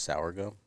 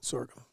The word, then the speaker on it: sorghum: time laying in there you think it's pronounced saour gum no sorghum sorgum is that what you've